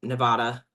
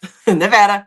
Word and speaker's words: Nevada: Nevada, Nevada. Nevada. Nevada. Nevada. I got it. You're in Nevada. Nevada. Yeah. the e I have to get the e at a time. Okay, here in Nevada um here you have